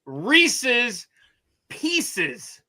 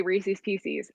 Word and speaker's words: Reese's Pieces: It's Reese's pieces.